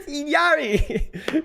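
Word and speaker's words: Illari: I know how she pronounces it. She says Iyari.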